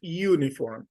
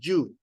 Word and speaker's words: uniform: Okay, the letter U is usually pronounced like in uniform, U, uniform. This word, now, sometimes the mistake is that we say you.